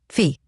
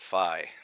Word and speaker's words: Phi: Fee. Thanks for the update. Phi. Phi is the Greek pronunciation. I speak Americanish. We pronounce it Phi.